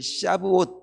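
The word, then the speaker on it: שבועות: 오순절은 6월절로부터 50일째 되는 날로서 히브리어로는 이 오순절을 샤브옷 그렇게 발음하는데요.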